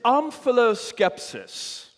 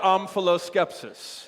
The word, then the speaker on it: omphaloskepsis: The word is amphiloskepsis. Wait a second. Didn't Jean Valjean over there just get Mexican? Yes, and you got amphiloskepsis.